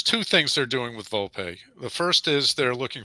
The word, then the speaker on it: Volpe: Volpe.